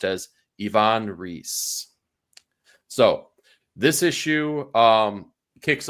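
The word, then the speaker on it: Ivan Reis: what we now found out to be uh pronounced as Ivon reee so this issue um kicks off and it's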